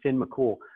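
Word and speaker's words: Fionn mac Cumhaill: mccool it looks like finn mccumhale but they pronounce it finn mccool um he's he's like a superhero in the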